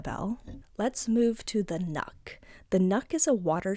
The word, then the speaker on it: nøkk: The nuck, or it's spelled N-O-K-K, is a water spirit that